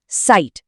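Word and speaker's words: Zeit: इसलिए ई आई की आवाज हमेशा आई होगी। जैसे शब्द जाइट में जिसका मतलब है टाइम। इसका उच्चारण होगा साइट।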